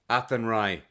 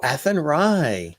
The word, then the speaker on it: Athenry: How do you say do you lose the H? Do you say Athenry? Athenry. Oh, Athenry. There you go.